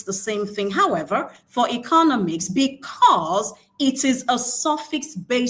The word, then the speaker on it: economics: And then for economics, we have the stress on the penultimate syllable.